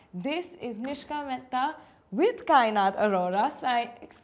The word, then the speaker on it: Kainat Arora: This is Nishka Mehta with Kainat Aurora. Kainat, I pronounced it correctly, right? Kainat Aurora. Yes.